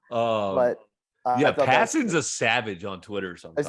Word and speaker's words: Passan: Yeah, but Yeah, I thought that Passon's a savage on Twitter sometimes.